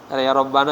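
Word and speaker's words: يا ربنا: Ya rabbana bacanya ya rabbana ya karena munada.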